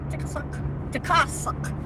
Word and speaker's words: Tikasuk: It's a Tikasuk Brown Elementary School, and Tikasuk. That's how my grandma taught me to say it. Tikasuk. Because I said family member. Tikasuk. Gotta say it correctly.